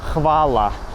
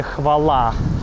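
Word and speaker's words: хвала: Или другое слово, хвáла. По-сербски, спасибо. По-русски мы бы сказали хвалá.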